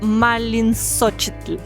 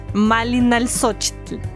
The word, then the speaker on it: Malinalxochitl: The word Malinalco comes from the Nahuatl word Malin Sochetl. Malinalxochitl, now I said it right.